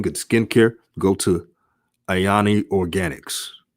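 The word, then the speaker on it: Aini: um good skin good skin care go to ayani organics spelled a i n i organics and and organics is spelled o-r-g-a-n-i-x so i'm just giving an example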